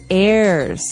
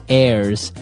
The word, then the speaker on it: heir: pod, and to his heirs. This is our next word. What is an heir? Now, if you notice, the h is silent there. So his heirs and that th those